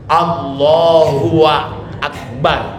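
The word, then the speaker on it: الله أكبر: Ya Allahu Allahu Akbar yang benar Allahu akbar kalau Allahu akbar berarti dia menambah huruf wau menambah huruf wau ya bapak-bapak supaya tidak membingungkan kalau dibacanya Allahu akbar berarti wau di antara Allah dan Akbar berarti dia tambah maka tidak sah Takbiratul ihramnya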